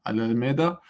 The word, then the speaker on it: Alameda: So I guess I got it right, the pronunciation, Alameda.